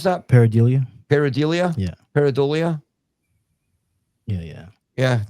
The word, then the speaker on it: pareidolia: point to radio interference, background noises, or audio pareidolia. How do you pronounce that? Pareidolia.